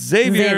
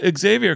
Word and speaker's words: Xavier: Like no, because people say that and people keep calling him that, and I'm like, it's Xavier. And they're like, well, Xavier can come hang out with us.